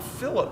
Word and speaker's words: fillet: two surfaces together a Philip well it's spelled like fillet I know but it's called a Philip weld is an inside corner